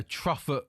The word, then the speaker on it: Truffert: Yeah, Truffert. Is it Truffert? Truffair? We're going Truffair, aren't we?